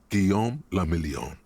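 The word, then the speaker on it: Guillaume Le Million: meant only one thing guillaume lamillion so that's how you pronounce that if it doesn't rhyme you're not pronouncing it right thanks drama out of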